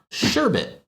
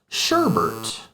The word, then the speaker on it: sherbet: is going to be sherbet. Sherbet. And rather than omit the R, I actually add an additional R to this word, making it sherbert.